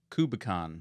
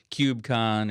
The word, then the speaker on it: KubeCon: Yeah, and they have a fun conference too, KubeCon, which we've debated the pronunciation of, whether it's KubeCon or KubeCon, because it's Kubernetes.